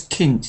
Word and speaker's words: Kind: kind child for example although written with a d is pronounced kind I think it's Kint isn't it K Kinder K Kint I think anyway it's so they're